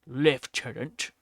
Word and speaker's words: lieutenant: Colonel or Lieutenant or or if you're British, then you say lift tenant.